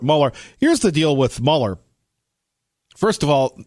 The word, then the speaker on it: Mueller: Here's the deal with Mueller. First of all, he really should pronounce his name the right way, Mueller. It's Mueller. It's not Mueller.